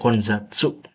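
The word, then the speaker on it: 混雑: Ini bacanya Konzatsu.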